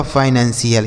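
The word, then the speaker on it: financial: और सी आई एल से क्या हो जाएगा? सी एल। यह लिखा गया आपका फाइनेंसियल।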